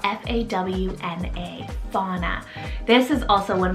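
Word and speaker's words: Fawna: and peace animal name here next i have fauna spell f-a-w-n-a fauna this is also one of my favorite animal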